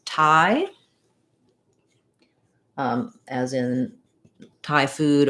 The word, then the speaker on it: Thai: culture thai language um it's just like the same as this word thai so it has the i diphthong like in um the word i which we write this way um so just thinking about it like i um you can it rhymes with hi um or my my